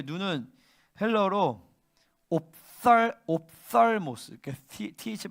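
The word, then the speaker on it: ὀφθαλμός: 그다음에 눈이라고 할 때 눈은 헬러로 옵살모스, th 발음인데 옵살모스인데 이걸 내가 왜 얘기하냐면 그냥 눈이란 뜻인데, 그러니까 우리는 눈이랑 보다가 다른 단어잖아요, 그죠?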